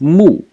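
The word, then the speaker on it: 木: Now the bottom of the character, this thing over here which is left, is pronounced mu.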